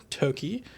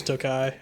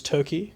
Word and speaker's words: Toki: Sor Toki uh which I learned just now Toki is how you pronounce this not toai I which for a